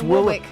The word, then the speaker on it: Warwick: Deion Warick. It's not how you say it. Well, you you say the second W. It's Warwick. Deian Warwick.